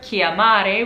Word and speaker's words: chiamare: Or there's an Italian verb, chiamare, which means to call, and it has that CH in it once again.